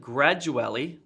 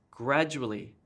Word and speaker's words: gradually: this gets stressed and instead of gradually that's wrong it's gradually gradually this gets emphasized here instead of